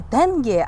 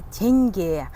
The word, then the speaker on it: тенге: А когда говорят именно тенге, вообще этот россияне игнорируют букву Е, а в казахском он очень яркий, и его нужно произносить обязательно. И будет не тенге, а теньге.